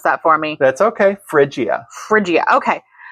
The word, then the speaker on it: Phrygia: You're gonna have to pronounce that for me. That's okay. Phrygia. Okay. Phrygia.